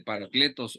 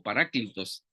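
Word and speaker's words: παράκλητος: Que es la palabra esa de paracletos o paráclitos, depende si usted ocupa la pronunciación de Erasmo o la pronunciación moderna.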